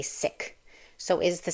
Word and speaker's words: Sikh: In Punjabi, the word sounds like this, Sikh, with a short I sound, like I as in kick, and the ending has a k sound. The closest English word is Sikh, rhymes with thick.